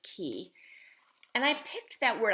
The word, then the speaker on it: Qi: and seen it um i spelled it q i right like the word chi but pronounced key and i picked that